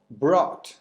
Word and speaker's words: brought: Son varias palabras con este sonido en inglés, como por ejemplo ought, deber, o brought, que es el pasado de bring, llevar.